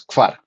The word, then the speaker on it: kvar: Una cosita, pronunciaste el 4 como si fuera un 5. 4 es kfar, ¿listo?